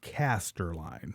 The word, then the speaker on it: Casterline: It sounds horrible because it's 3 syllables. And I always just tell people it's just like Centerline, but it's just Casterline, CASTERLINE.